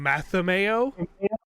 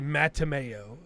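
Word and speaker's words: Mattimeo: talk to Brian Jakes the author but they pronounced his name Matthew Mayo okay and his name doesn't have an H in there it's clearly mateameo Pokemon's another very good one where they just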